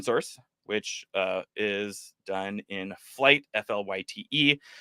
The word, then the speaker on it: Flyte: And this is built on top of Flight. So a lot of what we are going to see today, you can also implement in open source, which is done in Flight, F-L-Y-T-E.